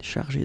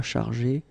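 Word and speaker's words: chargée: notice that if you put that at the feminine form, elle, then you will have to add this e at the end of chargé. Okay, so it will be the feminine form. You don't pronounce it because phonetically it doesn't exist, but you need to write it.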